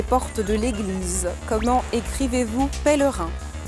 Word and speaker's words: pèlerin: Pèlerin s'écrit P, E, accent grave, L, E, R, I, N, S. On dit pèlerin et pas pèlerin.